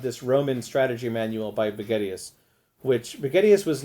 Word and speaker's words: Vegetius: And Vegetius has, which I think actually is the better pronunciation, has divides his book